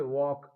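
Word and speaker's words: walk: तो कभी कभी क्या है, एल साइलेंट हो जाता है। जैसे देखिए वॉक, डब्ल्यू ए एल के, इसमें क्या है, इसको क्या है, वॉक बोलते हैं।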